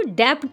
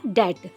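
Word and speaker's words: debt: यहां पर आप देख रहे हो डेट इसको डेप्ट नहीं पढ़ेंगे। इसमें बी साइलेंट है। इसको पढ़ा जाएगा डेट।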